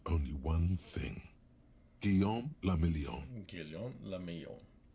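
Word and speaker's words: Guillaume Le Million: Guillaume Lamillon. If it doesn't rhyme, you're not pronouncing it right.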